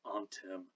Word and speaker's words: anthem: and teachers emphasized that it ought to be pronounced antem or anthem not anthem but but here we